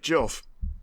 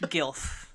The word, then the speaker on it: GILF: Like, all right, Jilf. Jesus Christ. Jesus. Also, we all know it's pronounced GILF.